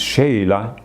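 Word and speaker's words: Chayla: after la mwan de baville francois de lange pronounced sheila arch priest of the seven and inspector of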